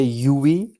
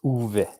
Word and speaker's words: Uwe: pronounce it the the english the english say ue and yeah the correct the correct pronunciation is uv yeah yeah i had some similar problems with